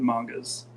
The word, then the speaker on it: manga: think we edited the mangas so okay yeah I say mango you say manga but you're telling me I think you told me once before that manga is the correct pronunciation yeah I just say